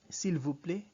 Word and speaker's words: s'il vous plaît: The vous has the long O sound, like the O that you'd see in tool, right? Or cool. So you say, Mademoiselle, s'il vous plaît, vous plaît, s'il vous plaît, Mademoiselle, s'il vous plaît.